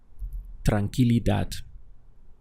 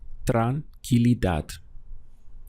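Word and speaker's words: tranquilidad: this in Spanish is tranquila dad let's go through the syllables we have Tran Keely this sound here in the middle is killi killi Tran Keely dad and it's a feminine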